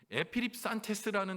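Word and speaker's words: ἐπιρρίψαντες: 여기서 맡긴다는 말은 헬라어로 에피립산테스라는 단어로 이 발음을 합니다.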